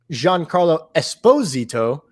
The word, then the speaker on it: Giancarlo Esposito: an urgency of um giancarlo esposito uh i learned how to say his name recently nice properly the emphasis is on the esposito um uh we his